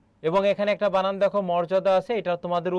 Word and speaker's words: মর্যাদা: তাহলে এখানে কি হবে বলো তো? মো হবে। আর রেপ থাকলে সেখানে কি হয়? র হয়। উচ্চারণে অন্তর্জয়ের ব্যবহার নেই, সেক্ষেত্রে কি হবে বলো তো? বর্গীয় জ হবে। মোর যা দা, এটি হচ্ছে তোমার উচ্চারণ, এটি হচ্ছে বানান।